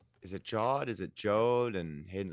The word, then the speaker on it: Jod: is more Jod than Jode. It's like God, but with a J.